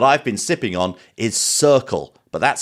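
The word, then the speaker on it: Cirkul: of water that I've been sipping on is circle but that's spelled c-i-r-k-u-l you may know it from Tick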